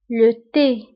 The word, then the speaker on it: le thé: فانتبهوا بالنسبة لو تي كنكتبوها بالتي اش le thé.